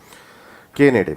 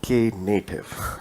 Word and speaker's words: Knative: move to the actual kubernetes k native sorry k native it's pronounced as k native um it's basically a native platform for kubernetes